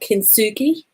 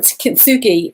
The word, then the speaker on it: kintsugi: that there's a real awareness around something called kintsugi. I think I pronounced that correctly, but somebody who's Japanese might completely correct me and say I've said it wrong. But kintsugi is the Japanese art of repairing cracked pottery